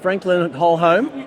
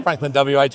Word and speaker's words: FranklinWH: This is Andrew from Franklin Whole Home. Is that how you say it, or just WH? You can say either, Glenn. Oh, okay. Franklin WH rolls off the tongue.